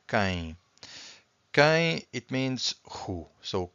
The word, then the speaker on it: quem: So this U here is silent. So quem.